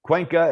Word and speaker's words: Cuenca: dirty french novel cuenca and if i pronounce that wrong sorry i don't speak spanish man it's a pleasure to talk to you pleasure to talk to you you nailed it though cool i get